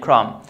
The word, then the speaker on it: crumb: So again, quickly, when I have the B after the M, I don't pronounce it. As in climb, bomb, tomb, and crumb.